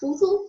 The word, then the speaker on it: vudú: Si te fijas, vudú se carga la voz en la sílaba du y se tilda porque termina en una vocal.